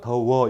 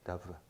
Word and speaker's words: 더워: 순경음 비읍은 오나 우로 바뀌거든요. 그래서 더워 이렇게 하죠. 더워 이렇게 되죠. 순경음 비읍 발음입니다. 더버가 아니고 더워 이거예요. 더워.